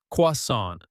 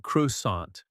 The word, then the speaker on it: croissant: Croissant, croissant, not croissant.